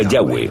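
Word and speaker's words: Yahweh: inglés y español son yhw pensamos que probablemente se pronunciaba yahwe o algo así pero yahwe solo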